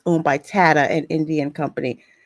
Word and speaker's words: Tata: it wrong you're saying it wrong it's it's Tata that's why it's it's t it's thank you